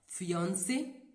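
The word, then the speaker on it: fiancé: Next बात करते हैं फियोंसे, फियोंसे। दोस्तों, यह दोनों ही जो शब्द हैं इनका जो प्रोनाउंसिएशन है वह लगभग एक ही है, बस लिखने में थोड़ा सा डिफरेंस है।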